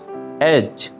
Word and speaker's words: edge: এখানে মার্ক করা ডি লেটারটি হচ্ছে একটি সাইলেন্ট লেটার। Edge. এজ, কিনারা, প্রান্ত।